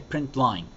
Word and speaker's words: println: Afterwards we add a print line. So system.out.println. It's pronounced print line, but you type println.